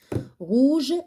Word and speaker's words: rouge: L'homme, L-O, l'homme, donc le H, on ne le prononce pas. Bonnet, la lettre T. Rouge, la lettre E.